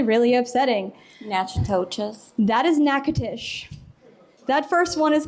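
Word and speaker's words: Natchitoches: are not pronounced how they're supposed to be pronounced and it's actually really upsetting nachas that is nacatish that first one is called neades the second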